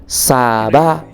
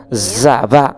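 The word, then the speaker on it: צבא: साबा अथवा TZVA जसलाई चाहिँ उच्चारण गर्दा जाबा जस्तो पनि उच्चारण हुन सक्छ, अथवा कतिपटक TSAVA साबा भन्ने पनि उच्चारण हुन्छ। यस कारणले गर्दा हामी विभिन्न भाषी अनुसार यसको उच्चारण फरक हुन सक्छ। फरक भए तापनि यहाँनिर साबा भन्ने उच्चारण हिब्रूमा गरिँदछ।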